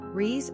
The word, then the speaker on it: Rhys: Pronunciation, Rhys or H-R-E-S.